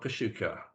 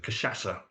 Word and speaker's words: Cachaça: It's not Kashuka. Team. Cusco. It's not, goes across. Team. Anyone? No. No, I don't think we're getting that one either, Ian. Against the post, it's Cachaça.